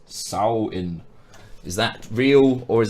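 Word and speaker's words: Samhain: popular Celtic Festival of Samian pronounced sow in is that real or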